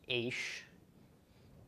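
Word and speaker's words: אֵשׁ: Sarah under the Alice so this is pronounced H okay so each is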